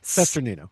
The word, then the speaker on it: Cesternino: And if you heard the the debrief that we were chatting about before we recorded from Rob Cester I can't pronounce his name. Cesternino.